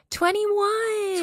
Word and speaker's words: 2NE1: It's to anyone. Is that how you say it? 21. 21. Yeah.